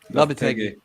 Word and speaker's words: Lopetegui: How do you pronounce the manager's name again? Lopetegui.